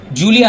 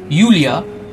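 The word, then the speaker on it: Julia: করবে লুসে ইরিগারে লুসি আর জুলিয়া নয় ইউলিয়া ইউলিয়া ক্রিস্টেবাভা এই তিনটে ফ্রেঞ্চ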